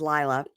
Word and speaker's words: Layla: Girl number 2 is spelled like Layla, but she says Lila.